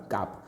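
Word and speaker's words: calf: Pronounced from the word काफ। काफ जो अच्छे से क्यों लेटर टी प्रोनाउंस हो ना देखो सी काफ सी ए हूँ एल एफ काफ एफ हूँ किंतु एल एठारे हो ना।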